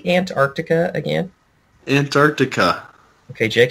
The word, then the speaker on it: Antarctica: I mean, sometimes I pronounce it Antarctica. Antarctica. I don't say the C. I don't say the first C.